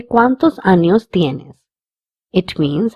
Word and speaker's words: años: Hence, the sound of this word is años.